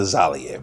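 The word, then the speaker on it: Bakhram Murtazaliev: And one loss came, one of his losses were by knockout at the hands of Bakram Murder Zalav. Murder Talia. Murder. Murder. Zalv.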